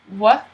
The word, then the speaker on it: white: So you don't pronounce this H. White. White. White. This is one of the times where a T actually does sound like a T.